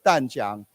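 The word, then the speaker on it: Tamkang: However, James Yifan Chen of actually it's Danjiang, okay, it's spelled weird, University said higher manufacturing costs in the U.S.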